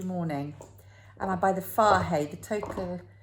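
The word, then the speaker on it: Fage: And I buy the Farhay, the total Farhay, and I know it's pronounced like that because it said it on the packet, Greek yogurt.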